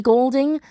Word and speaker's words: Goulding: So phonetically speaking, in terms of pronunciation, Ellie Goulding does in fact have the colour gold in her name.